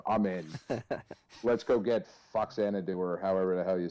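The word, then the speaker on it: Faxanadu: know this one um that game is pronounced fanad do because it is it is actually a sequel to a series of games in Japan called Xanadu and that was the NES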